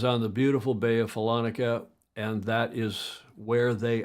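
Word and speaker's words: Follonica: shores of the Gulf of, how do you pronounce that? Falonica? Falonica, well done.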